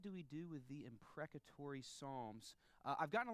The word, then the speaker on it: imprecatory: loud a few times make sure we can pronounce it all right so on three we'll say it together 1 2 3 imprecatory okay second word exercise we're going to do